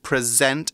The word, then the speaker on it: present: we're pronouncing this word in the verb form we say present emphasis on the second syllable not like when we say the noun form we say present same spelling very different